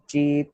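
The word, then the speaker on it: ち: हम लोग प्रोनाउंस करेंगे ची। ओके, ची। सो दिस इज, तो ये है आपका एक्सेप्शन। इसको हम टी प्रोनाउंस नहीं करेंगे, विल pronounce it as ची।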